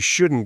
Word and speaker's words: shouldn't: It sounds more like you shouldn't go. You shouldn't go. You shouldn't eat that. Oh, wow, that flows so much faster. It does. It requires less effort from your mouth. He shouldn't say that. Try it, listeners. Don't stress the T.